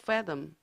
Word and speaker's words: fathom: 그 다음에 의미를 헤아리다 fathom 할 때 th 발음, 혀를 윗니를 혀에다 대고 fathom 조심하시고요.